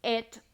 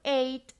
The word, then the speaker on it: ate: For example, el verbo comer, el presente o el infinitivo puede ser eat, el pasado simple es ate or ate, las dos pronunciaciones están bien, y el pasado participio es eaten.